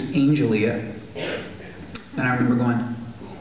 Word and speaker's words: Angelia: noticed her name tag her name tag was a-n-g-e-l-i-a and I said I said they're really really pretty Angelia that's really pretty and she said actually it's Angelia and I remember going to grab this notepad